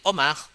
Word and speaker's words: homard: Homard, lobster, the spelling is H-O-M-A-R-D. The pronunciation is just simply Omar, like Omar, but there's R there. Omar, horrible, horrible. So the pronunciation is O, not H. There's no H.